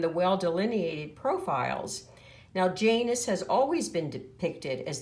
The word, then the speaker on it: Janus: to the word janus the spelling in latin is j-a-n-u-s and they would have pronounced it janus and in his name